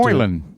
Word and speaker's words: Moylan: Moylan. Uh I'm going to have to Moylan.